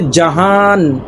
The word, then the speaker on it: জাহান: এখানে ফারসিতে জাহান। জাহান এখানে নুনটা উচ্চারণ হয় না। এখানে জাহানকে জাহা বলা হয়।